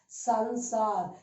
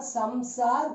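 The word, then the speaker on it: संसार: It becomes sansar. It is not samsar because ma is there. That ma is gone and it takes the position of the ang. So it is sansar.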